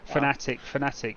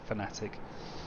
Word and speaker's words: Fanatec: Actually, Fanatic, as it is actually correctly pronounced, Fanatic.